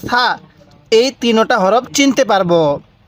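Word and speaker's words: ثاء: সাটা একটু নরম করে উচ্চারণ করবেন। তাহলে সাটা উচ্চারণের সময় জিহ্বাটাকে দাঁতের আগার সাথে লাগিয়ে দিবেন।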